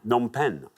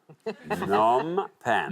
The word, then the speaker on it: Phnom Penh: Phnom Penh or Phnom Penh. Nom pen. Nom. It's a fairly silent P, I think.